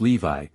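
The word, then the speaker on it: Lévis: named mathan no Lis which was pronounced Levi cambis pronounced cambis these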